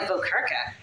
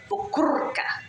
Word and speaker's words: Vokerka: The pronunciation of our last name has been very anglicized, because in the Czech Republic, it would be Vokerka. Rolling your R's is so much fun.